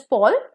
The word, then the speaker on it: pall: Okay, so P-A-L-L, Paul is pronounced as Paul, which means to become tired.